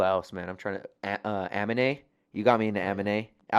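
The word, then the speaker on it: Aminé: It is Amine because it has the little thing.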